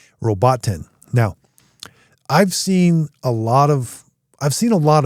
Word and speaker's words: Robotin: sees words and I I call it Robbiten. It's not Robbiten. Robotin.